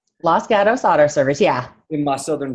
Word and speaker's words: Los Gatos: service got us do I say it right Los Gatos auto service yeah my Southern drawl so thank